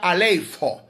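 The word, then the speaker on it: ἀλείφω: relación al ungir fue elipo elipo Ah alipo alipo a l e i p h o que se pronuncia alifo aleo que es el que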